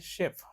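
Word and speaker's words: chef: शारखा होतो या शब्दांमध्ये सी एच प्रोनन्सिएशन कस होईल मग शेफ काय म्हणायचं त्याला शेफ त्याला चेफ म्हणायचं नाही काय म्हणायचं त्याला शेफ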